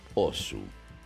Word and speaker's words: Oss: Y claro que estamos hablando de osu o como se debería de pronunciar realmente que es os Alguna vez se preguntó